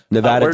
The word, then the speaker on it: Nevada: okay we have Arizona Nevada do not border New Mexico so what state is to the east of Neva Nevada is how you say it what state is to